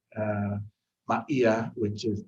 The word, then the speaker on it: Maia: Maya, which is spelled which is pronounced uh Maia, which is m a i a, Ma'ia.